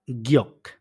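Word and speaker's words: 기억: এরপরে হচ্ছে গিয়ক। গিয়ক এটার নামে গিয়ক। নিচে বসছে আ গিয়কের উচ্চারণ বাংলা অর্থ হচ্ছে স্মৃতি। নিচে বসছে তাই এটা উচ্চারণ অনেকটা ক এর মতো হইছে।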